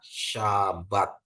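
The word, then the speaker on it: שַׁבָּת: Jadi kalau kita ini ada shin dikasih patah ya. Dia bacanya sha. Bet dikasih kamats bacanya ba, jadi dia ditambah tab jadi bacanya syabat ya, syabat gitu ya, hari sabat.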